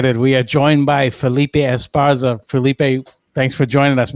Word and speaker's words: Esparza: I'm like, no, my name, it's spelled Esparza. It's always spelled Esparza, but people are like, they just see it go Espinoza or Esperanza. That's it. I always get those two, but I never get Esparza right away.